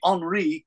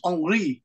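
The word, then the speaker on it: Henri: Henry but they say on because French people don't say h so maybe they spell it like this but the pronunciation is on and it's kind of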